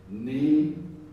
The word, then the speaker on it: NEHRP: For 40 years, the National Earthquake Hazards Reduction Program, now I'm going to have to be reminded, how do we pronounce that? NEHRP.